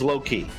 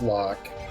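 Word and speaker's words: Locke: canal lock it is lock lock like locking ke well also uh what there's an e on the end of it but you pronounce it like lock as in like you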